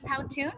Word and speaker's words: Powtoon: because you introduced me to it i think powtoon is that how you pronounce it uh yeah yeah that's it that's